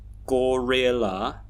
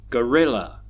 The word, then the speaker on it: gorilla: We don't say container, glamorous, gorilla, forgetful. No. That's because we have this pattern of stressed and unstressed syllables. So here we can hear container, container, glamorous, glamorous, gorilla, gorilla, forgetful, forgetful.